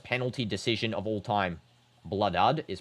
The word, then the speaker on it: Kholood: Blood is pronounced blue dude.